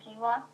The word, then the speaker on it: quinoa: spelled like this quinoa like that but it's pronounced quinoa this is a carbohydrate but it also packs